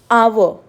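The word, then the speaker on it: hour: But when they are silent, sometimes they are, like I am speaking our, so I am, they are, because H is silent, so the sound is coming is of vowel.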